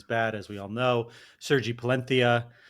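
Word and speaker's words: Sergi Palencia: Sergi Palentia. We discovered that's how you're supposed to say his name.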